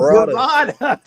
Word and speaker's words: Berada: Hey, is it Berada or am I saying it wrong? Berada. Okay. Points for another one correct. There we go. You got it. Like Baraka? No, Berada. Berada.